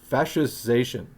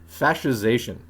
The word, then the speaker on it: fascization: Fascization. Oh, okay. They left out the syllable I keep trying to add. Fascization.